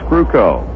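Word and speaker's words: Krukow: it off against Mike ruko if you're wondering how to spell this youngster's last name k-r-u-k-o-w pronounce crewco and he'll be facing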